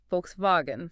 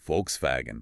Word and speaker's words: Volkswagen: The first letter is V. So F sound. The middle letter is W. So V sound. It's folks vagen. Volkswagen.